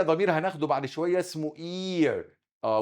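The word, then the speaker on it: ihr: شويه اسمه اير اه والاتش هنا سايلنت ما تنطقش الاتش الاتش لو جه وراها حرف ساكن كانها مش موجوده يبقى اي وطول الاي شويه عشان عدت خدت مساحه نطقها ومساحه نطق الها الاتش ديت فما اقولش اير اسمها اي والار وارهاش حاجه كانها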